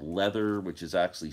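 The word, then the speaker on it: Läther: they were all involved in a project called leather which is actually spelled l a t h e r like lather but it's spelled it's pronounced leather it had Sleek dirt uh uh orchestral favorites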